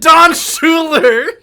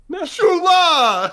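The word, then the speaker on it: Don Shula: Is it Don Schuler? No, you mispronounced it. That's how you say it. Shula.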